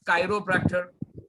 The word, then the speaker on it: chiropractor: और in Europe they pronounce as कायरोप्रैक्टर. but I'll say chiropractor in an Indian style.